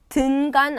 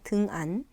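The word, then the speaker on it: dengan: 등간 아니고 등안입니다. 등안. 네. 발음도 주의하시고 등안입니다.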